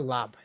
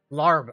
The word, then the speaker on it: larb: Chicken lob. How do you spell lob? They're asking what's for dinner. Lob. Chicken beef lob. Larb. Oh yeah, it's spelled larb.